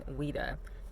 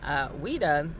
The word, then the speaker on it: Ouidah: Ouida is still on the map of Africa. It is either spelled Whydah or it's spelled Ouidah. This is the same exact word as Judah or Yehuda.